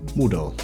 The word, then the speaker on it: Mudau: How do you pronounce that? Woodall.